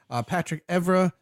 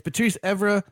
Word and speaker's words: Patrice Evra: Notable outs for West Ham were James Collins, Patrick Evra, Patrice. oh man, jeez, It's the beer. it is the beer. It's Patrice Evra, the guy.